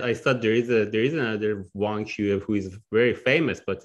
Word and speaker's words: Wang Xiyue: So Wang Xiyue.